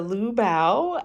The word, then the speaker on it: Liu Bao: me away but you see it says a liubao and it's i i actually got that name